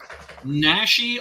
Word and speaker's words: Naschy: Naschy, although his real name was Jacinto Molina.